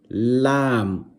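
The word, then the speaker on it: لام: Lam. Pronounce the letter lam and you will notice where your tongue is touching in your mouth.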